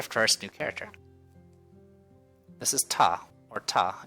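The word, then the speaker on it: た: you here's our first new character this is taw or taw it's a constant followed by a vowel and makes up a single syllable you pronounce this asked tough let's practice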